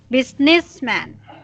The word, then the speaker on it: businessman: But the way you read it, your stress is here on this, like businessman. It should be Businessman. the stress should be here. Businessman, Businessman. uh, businessman. Businessman. Okay, so our racing voice is here. Yeah. First syllable, businessman.